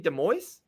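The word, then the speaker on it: Des Moines: I've been calling it Iowa, but it looks like it's UFC DesMoines. Just leave the S's. Leave the S's at home.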